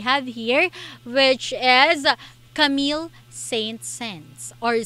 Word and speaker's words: Saint-Saëns: composer that we have here, which is Camille Saint-Saëns or Saint-Saëns. Okay, so that is the real pronunciation of his name.